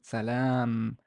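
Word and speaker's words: سلام: There's fatha should be fatha here, but I forgot to write it. And this is lam alif, so it's long vowel. Salam.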